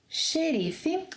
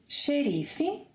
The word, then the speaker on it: xerife: In Brazilian Portuguese, the letter X will sound like sh, as in shoes, whenever it is at the beginning of a word, as in xerife, repeat after me, xerife, xadrez, xarope, xícara, show.